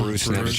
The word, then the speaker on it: Buchnevich: And we asked Pavel Buchnevich about that last night, or is it Bruce Nevich? I think it's Bruce Nevich is the proper pronunciation.